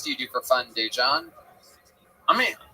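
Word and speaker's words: Daegen: Dejan.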